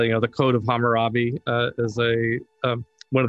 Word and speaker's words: Hammurabi: based upon the rumor robbie how do you pronounce that hammurabi there we go i was always kind of